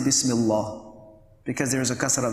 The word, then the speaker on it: Bismillah: In this case, because it is preceded with a kasra, so we would say Bismillah, we would not say Bismillah, because there is a kasra before it.